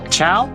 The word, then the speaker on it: Chao: I put it as chaos because it's pronounced ciao like Italian like ciao.